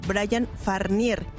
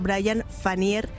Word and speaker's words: Brian Fanier: artístico y marca registrada, pronuncia mi nombre de pila como Brian Farnier, por lo que quiero aclarar que mi nombre es Brian Fanier, sin la R intermedia en mi segundo nombre, que tanto el señor